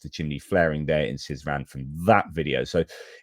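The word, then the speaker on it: Syzran: I pronounced it incorrectly. Anyway, Sizan, that's been targeted multiple times previously.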